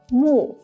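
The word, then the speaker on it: 木: with this component this one by itself is pronounced as Mu mu means tree or wood doesn't this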